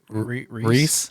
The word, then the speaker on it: Rhys: with the lizard and i don't want to say his name incorrectly but reese yeah it's rhys what did y'all think